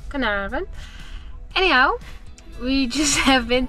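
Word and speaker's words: Carnarvon: Space Museum in canaran just found out that you pronounce as canaran anyhow we just have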